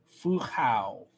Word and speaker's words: Fu Hao: Ah, so the final syllable rhymes with how. So it'd be Fu Hao.